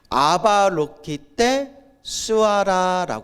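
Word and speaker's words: अवलोकितेश्वर: 여러분들 다 들어보셨을 거예요 아바로키테슈바라 불러요 뭐라 부른다 아발로키테스바라 뭐 이렇게 발음이 뭐 스바라 하고 뭐 슈아라 고도 하는데 대충 아발로키테스바라 자 그러면 아발로키테스바라 이게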